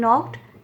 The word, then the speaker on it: knocked: Here no has silent letter K and knocked has silent letter K.